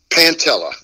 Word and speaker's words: Pantella: name right pantella pantella pantella okay all right so when I it's like P it's like panta but instead of an R it's two L's oh awesome oh that's